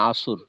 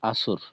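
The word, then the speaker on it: عصر: যেমন আমরা বাংলাতে বলি না আসর। আসরের নামাজ আসর। এখানে কিন্তু আমরা রকে বুঝি। তো এখানে যদি আরবির ক্ষেত্রে আস বলে শেষ করি। তো শব্দ পূর্ণ হয় না। রকে সশব্দে উচ্চারণ করতে হবে।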